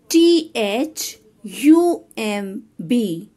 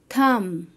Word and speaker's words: thumb: e it's vegetable vegetable t h u m b thumb its thumb b is silent thumb o n i